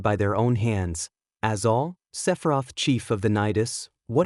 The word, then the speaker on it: Sephiroth: And for starters, before you start calling me a bird or something, I'm a Sephiroth, okay kid? A Sephiroth. Yeah, a Sephiroth. Learn to pronounce it right.